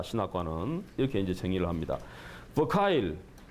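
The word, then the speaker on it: Verkuyl: 버카일, 화란에서는 베르쿠일 이렇게 이제 발음하기도 하는데 현대 선교 신학에서 굉장히 중요한 공헌을 하신 이 현대 선교 신학이라는 책을 저술한 분인데 이분은 뭐라고 얘기하느냐?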